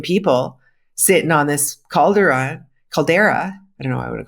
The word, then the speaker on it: caldera: know I want to call it Calderon Caldera I you know what it is because I've read about this stuff and I just sort of skipped over the word and I never really learned pronunciation for it and then it was only recently that I heard people talking about it and they said Caldera so that's why so